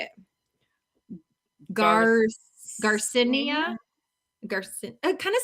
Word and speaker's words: Garcinia: So all of them are taking out the last I. They're not pronouncing that. So I was saying Garcinia, but they're all saying Garcinia, right?